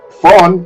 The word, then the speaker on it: von: Vamos a empezar que el apellido no es tan difícil, pero Adela, no es indispensable pronunciar bien los apellidos raros alemanes. Fon, ahí la pegaste con el fon porque el concorta fon quiere decir d.